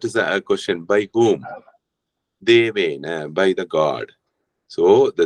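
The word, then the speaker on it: देवेन: Unlike Hindi, you pronounce the whole last letter. Okay, maybe in Hindi, Deven, right? This will become Deven, but here we have to pronounce that whole letter, Devena.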